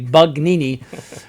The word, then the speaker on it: Bugnini: concocted by Bugnini, and make sure you can pronounce that correctly, Bugnini, was that's the ordinary thing that was concocted, just made up by that Freemason.